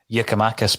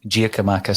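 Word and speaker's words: Giakoumakis: on the aforementioned nearby has not been pronunciation uh yakimakis because i keep calling him gia camachus so uh uh you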